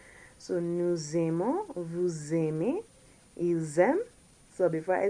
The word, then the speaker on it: ils aiment: But as you can see, there's the S followed by an A, which creates a liaison between the two. So they're pronounced together, more or less in a sense. So it'll be ils aiment rather than il aime.